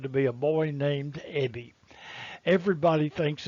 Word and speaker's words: Ebbie: whiskers are now gone my name is ebby and it really is spelled e-b-b-i-e do you remember the